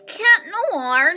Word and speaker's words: Cat Noir: Cat Noir, not Chat Noir. WTF? Why do they say chat instead of cat? It's Cat Noir, not Chat Noir. Why do you call him Chat Noir? I hate Americans saying Chat Noir.